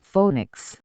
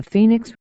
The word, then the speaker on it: Phoenix: word she said Phoenix I said my God Phoenix and my whole life I have wasted calling it phonics that is my eighth book The Phoenix okay I will change my pronunciation at least to make it appear to being English the Phoenix this is a wonderful